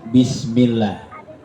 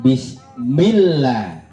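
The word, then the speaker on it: بسم الله: di atas huruf lam maka bacanya harus bismillah cuma pada ee pembacaan milnya ini jangan ditahan lama-lama ya bismillah jangan bismill jangan ya karena di situ bukan hukuman bukan hukum gunah Jadi enggak boleh ditahan lama-lama ya hukum gunah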